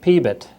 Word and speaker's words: PBIT: and if I say something like peit which is you know a pronunciation of pbit T which stands for profit before